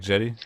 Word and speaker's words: Jetty: beyond the meta yo Jetty is that how you say your name you say it you say it like Jetty yes sir all right cool that's